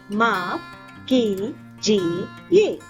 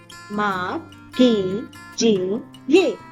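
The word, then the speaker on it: माफ़ कीजिए: Let's pronounce it together. माफ कीजिए. माफ कीजिए.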